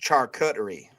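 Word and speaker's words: charcuterie: I may or may not have hit way too hard before we started eating real food, but it's pronounced char cuttery.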